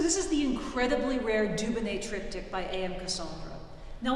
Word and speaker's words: Dubonnet: And then he realized I'm a genius, because phonetically in French, du beau looks good, du bon tastes good, Dubonnet, the name of the brand.